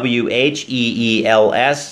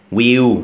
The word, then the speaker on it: wheels: Feelings Feelings โอเค alr ออก เสียง คำ ว่า w h e e l s นะ ครับ ที่ แปล ว่า ล้อ รถ นะ ครับ มาก กว่า 1 ล้อ นะ ครับ ก็ คือ Wheels นะ ครับ อย่า ลืม นะ ครับ ถ้า มี อ่า ตัว L ท้าย คำ นะ ครับ เรา ต้อง ออก เสียง เป็น ตัว L ฮะ ก็ คือ ตัว ลอลิง นะ ครับ ไม่ ใช่ will นะ ฮะ will อัน นี้ ก็